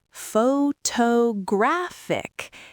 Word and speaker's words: photographic: The stress moved again. Now it is on the third syllable. Photographic. The A in graph is now the peak.